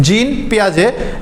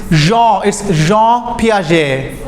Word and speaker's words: Piaget: Okay, for example, I'm saying, okay, Tasfia, please pronounce it, the name. Jean Piaget. No, see, she's saying Jean Piaget. It's not that. It's Jean Piaget.